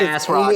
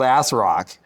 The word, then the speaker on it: ASRock: manufacturer called ASRock yeah I'm pretty sure it's the Asus looks like now that I look at the logo it's the it's ASRock ASRock as rock cuz I think that's like shortened what people called the Asus rock or the Asus Rock I gotcha okay they called it as rock listen whatever it is